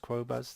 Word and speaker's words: Qobuz: compete with tidal and qobuz I think it's pronounced crow buzz the French one and it's sort of